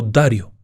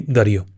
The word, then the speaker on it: Dario: ni menos que Giovanni Darío hay quienes lo pronuncian como Dario Ese es la forma italiana en realidad se le llamaba Giovanni Dario el hecho es que